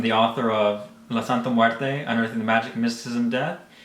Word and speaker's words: Muerte: You always tell me I say it wrong. La Santa Muerte? Muerte. Muerte. Bro, you got to drop it down.